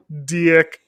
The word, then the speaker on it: DiC: Even if it wasn't, it's not DICK, it's DIC.